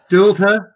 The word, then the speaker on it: Dualta: Dualta. Yeah, surname. Doherty. Yeah. Why don't we just let the guest pronounce say their name?